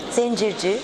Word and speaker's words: Zencirci: Alors, Shala Zenzirki. Zenzirki, très bien.